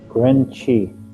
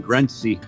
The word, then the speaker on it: Grenci: Grenci. Okay. Well, I was pronouncing it wrong all this time. I was saying Grenci. Many people pronounce it that way. It's actually a Turkish name.